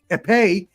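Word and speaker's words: épée: onischenko had his his I learned how to pronounce this this last last night aepe his aepe which is the F the fencing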